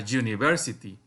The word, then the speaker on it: university: Then we have an uncle, but a university is different because here it is not a vowel sound. It is a consonant sound because you pronounce this you.